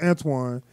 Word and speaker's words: Antoine: and that's because like there's no w in my name right now it's pronounced antoine anybody that's american when they see my name they think say and ton they just can't wrap their head around that it's got a w sound go through with that